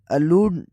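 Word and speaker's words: allude: अब इनकी प्रोनाउंसिएशन में जो फर्क है वह अगर उर्दू साउंड से देखा जाए तो जो ए से स्टार्ट होता है उसके अलूड होता है प्रोनाउंसिएशन मिडिल वोवेल और स्ट्रेस में फर्क है अ लूड और ई से जो स्टार्ट होता है वो इ लूड ई लूड स्टार्टिंग वोवेल और स्ट्रेस में फर्क है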